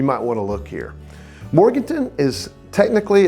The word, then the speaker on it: Morganton: Locals say Morganton, but you'll hear plenty of folks call it Morgantown. Both are fine. Well, no, not really.